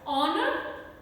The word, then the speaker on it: honor: Then we have such words, honor, are, honest. Now these words, they are having French roots in them, and because of that H is not pronounced in them.